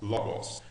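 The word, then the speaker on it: λόγος: Logos. Então a primeira frase fica en, arque, en, O logos. Por causa do acento aqui, a gente pronuncia mais forte. Logos.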